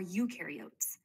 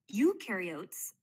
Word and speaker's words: eukaryote: Eukaryotes, the U rhymes with do, they do have membrane-bound organelles.